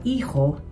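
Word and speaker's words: hijo: Tengo tres yung salitang iho, ang spelling ay h i j. Kaya hindi natin ipo-pronounce ang H ' ba. Ho. Tapos huwag kakalimutan yung hagod doun sa ho. Iho.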